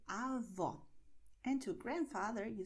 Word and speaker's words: avó: So to grandmother in Portuguese, you say avó. And to grandfather, you say avô. The difference is, well, my mouth. So avó, avô. Avó, avô. You see? Open, close.